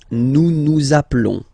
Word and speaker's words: appelons: Nous appelons. Nous appelons. Okay, final s doesn't exist.